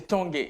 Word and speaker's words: Tanguay: J'ai bien prononcé Tanguay, comme en français.